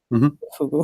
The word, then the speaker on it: Fugu: Fugu.